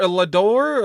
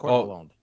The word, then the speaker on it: Lalonde: Lador? Or like, I don't want to butcher it, man. Like right. It's French Canadian. It's Lalonde.